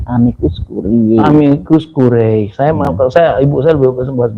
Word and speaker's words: amicus curiae: Curiae ya itu biar mestinya kalau itu bahasa Latin mestinya bacanya amicus curiae.